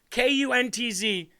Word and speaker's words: Kuntz: Kuntz, because I don't want to say it like K-U-N-T-Z.